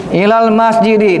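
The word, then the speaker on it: إِلَى الْمَسْجِدِ: setelah setelahnya minal bayiti ini ilal masjidi dibaca kasah Kenapa? Karena kemasukan huruf jar ini.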